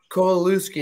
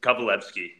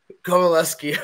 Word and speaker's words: Kowalewski: I am joined with Josh KUSI is that how you pronounce it you're close kovaleski kovaleski Okay well anyway joined by